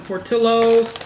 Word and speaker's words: Portillo's: I got some Portillo's. This is how you pronounce it, man.